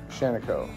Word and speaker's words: Shaniko: the funny thing is local Native American pronunciation of his last name ended up as shano anyways there was a